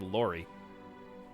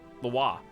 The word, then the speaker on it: Loire: It looks like Lori. Loire? Loire. That sounds good. Yeah, that sounds right.